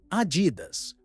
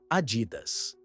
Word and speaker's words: Adidas: Dependendo de onde você é, você pode pronunciar Adidas ou pessoalmente sempre ouvir Adidas.